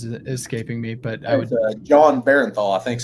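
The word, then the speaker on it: Jon Bernthal: I definitely burned through the Netflix Punisher series with wow, actor's name is escaping me, but I would John Barenthal, I think is how you say it.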